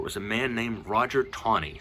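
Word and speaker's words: Taney: a man named Roger tawny spelled ta in he WA but pronounced tawny like there's a W in there there's not but Roger tawny was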